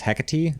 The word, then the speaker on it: Hecate: It's actually pronounced Hecate?